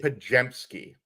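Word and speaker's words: Podziemski: it's Brandon Pajemski. All The right. Z is silent.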